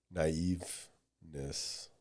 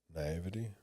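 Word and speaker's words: naivety: to say it I was going to say naiveness naivity naivity that's how it is yeah I was going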